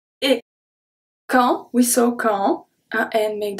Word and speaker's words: quand: Quand, quand. So here, the only thing that we pronounce is Q. And then we're going to pronounce A-N as en.